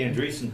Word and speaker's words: Andresen: How do you pronounce your last name? Andresen. Andresen. Okay. Well, That's thank you very much. It's like Anderson. There's the Andresen building down in